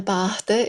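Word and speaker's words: bàta: So the difference between bata, which is a stick, and a bata is a boat. So just if the accent is on the A there, it's stretching it.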